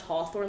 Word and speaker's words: Hawthorne: h-a-t-h-o-r-n-e like it didn't and it was still pronounced Hawthorne like it didn't match the way like phonetically